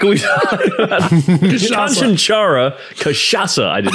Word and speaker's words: cachaça: Cachaça is funny because it's got a lot of C's in it and they're all pronounced differently. You got Sha.